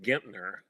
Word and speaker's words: Gentner: our podcast here, they don't know anything about Gentner Drummond. Why don't you lay it out for us? Uh, yeah, sure. Uh, let me correct the pronunciation here. He actually pronounces his name Gentner.